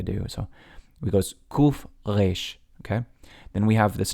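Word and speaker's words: ריש: Israelis pronounce Resh like a resh, like in the back of their throat, almost like you're saying an L sound of resh. Now, people pronounce it differently all around the world, but in Israel they go resh.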